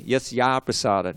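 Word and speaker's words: yasya prasādāt: So when you have yasya and aprasadat, we have to suspend. Okay. Becomes a long A. Yasya prasadat.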